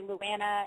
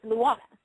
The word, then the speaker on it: Lana: the the living always butcher my name they always say Lanna and Lan but it's Lana and so if you